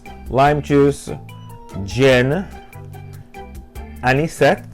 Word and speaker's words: Anisette: it's lime juice Jin an set am I say it right any any set yes and so lime juice any